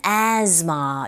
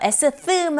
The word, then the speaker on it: asthma: 자, 그리고 접속사 and는 약하게 coughs and 이렇게 들리기도 하고 asthma 아니고요. asthma 아니고 asthma, z처럼 발음하시면 됩니다.